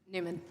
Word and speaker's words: Neumann: Neumann, is it Neumann or Neumann? Newman. Okay. There's this famous microphone spelled just like that that we pronounce Neumann.